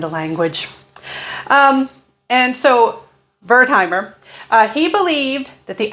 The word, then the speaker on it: Wertheimer: at the very least i know the w is pronounced as a v my german ancestors would be so ashamed of me i never learned the language um and so bertheimer uh he believed that